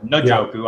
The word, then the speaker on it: Njoku: Njoku, I heard him say it right the other day.